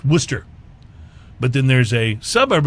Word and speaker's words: Worcester: outside of Boston that spelled Worchester but it's pronounced Worcester but then there's a suburb of Boston called